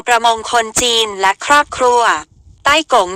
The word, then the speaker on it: ไต้ก๋ง: คน จีน และ ครอบครัว ใต้ ก๋ง เป็น คำ จีน ฮกเกี้ยน โดย ใต้ ที่ ว่า หาก ออก เสียง ใน ภาษา จีน กลาง จะ เป็น ต้า ที่ แปล ว่า ใหญ่ ส่วน คำ ว่า กง หรือ โก๋ง ใน บริบท ของ จีน กลาง และ ฮกเกี้ยน หมาย ถึง ผู้ เป็น นาย เมื่อ เป็น เช่น